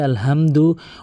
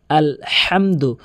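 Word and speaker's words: الحمد: 95% লোক এখানে যে ভুলটি করে বলে যে আলহামদু অর্থাৎ এই বড় হার জায়গাতে ছোট হা এনে উচ্চারণ করে যার ফলে অর্থ চেঞ্জ হয়ে যায়। নামাজ ভেঙে যায়। বলে আলহামদু। ভুল উচ্চারণ এর সঠিক উচ্চারণ হচ্ছে আলহামদু। হাটি হলকের মাঝখান থেকে এভাবে চাপ দিয়ে উচ্চারণ করতে হবে।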